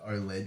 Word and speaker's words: OLED: no the other part OLED OLED o LED that represents the uh the screen the technology used on the screen so it's it's deep